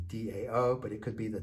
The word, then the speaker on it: Dao: but a done TN we're pronouncing the Dow with a D Dao but it could be the towel but it's more than